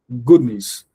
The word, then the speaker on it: goodness: Um, another surface could be Yeah. goodness. Goodness. Goodness. And that's goodness. The next and the good should not be equal.